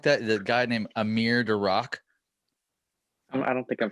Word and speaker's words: Amir: The guy named Amir Darak. I don't think I'm familiar with them. Oh, just like Amir, like I'm here to rock.